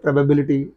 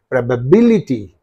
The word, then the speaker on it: probability: electricity electricity right probability so we pronounce the word probability flatly but here where is the suffix in this syllable and in this syllable right and what is the syllable preceding the suffix means B so what should you say probability probability ability probability something like that okay and equality is